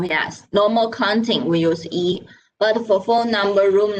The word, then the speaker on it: 一: So 一 and 七 sound similar if you stand far away, so maybe people cannot hear it clear.